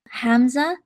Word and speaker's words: Hamza: I help run the Cyber Range, and today we have Hamza. Am I pronouncing the name correct? Yeah, Hamza.